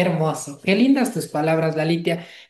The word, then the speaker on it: Lalitya: Lalitia se escribe Lalitya.